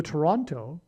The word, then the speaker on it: Toronto: And the team, the baseball team for Seattle, Washington, lost the American League Championship Series to the Toronto, which rhymes with tornado Blue Jays.